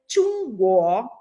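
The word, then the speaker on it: 中国: E a pronúncia qualquer, então a pronúncia certa é tungo, que significa país do meio.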